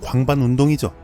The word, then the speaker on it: 광반운동: 발음 잘해야 합니다. 방광운동이 아니고 광반운동이죠.